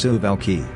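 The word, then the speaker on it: Suwałki: Poland and Lithuania called the Tsubaki gap pronounced sieve alkie the gaps to highways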